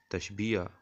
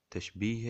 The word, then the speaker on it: تشبیہ: ہیں وہ ہے تشبیہ۔ اکثر طلباء تشبیہ کے لفظ کو غلط تلفظ کے ساتھ ادا کرتے ہیں۔ بعض طلباء جو ہیں وہ تشبیہ اور بعض تشبیہ یا کے لفظوں کا استعمال کرتے ہیں، جو غلط ہے۔ صحیح تلفظ تشبیہ ہے۔ تشبیہ دراصل علم